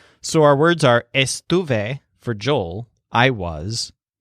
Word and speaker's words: estuve: she or it was again both words have Stu as the stressed syllable but Joel sounds more like Stu face and the lizard sounds more like Stu foot these words can be